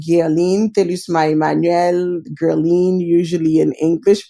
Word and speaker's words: Guerline: my name is Gayle until you smile again Guerlain usually in english pronounced me and my husband or the owners